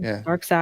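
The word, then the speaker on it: Darkseid: But I am curious about um this dark sade. Is that how you say his name? Dark Side.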